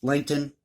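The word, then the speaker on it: Lancton: I say that because the other way you pronounce that, or you spell it, is L-E-I-G-H-T-O-N, but it's pronounced Langton, similar to it.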